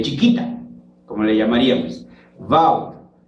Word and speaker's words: Vaud: chiquita, como le llamaríamos, Vaud. Como ellos son franceses y hay que respetar su pronunciación, ellos lo pronuncian Vaud. Se escribe Vaud, se pronuncia Vaud.